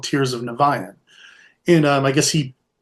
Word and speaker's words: Niviane: should start off the interview with the proper pronunciation of the band name sure naan naan there's a story there I'll I'll I I'll